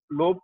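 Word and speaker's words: lobe: हैं कि चार लोब, लोब सही प्रोनाउंसिएशन है, एल ओ बी ई, चार माइंड के लोब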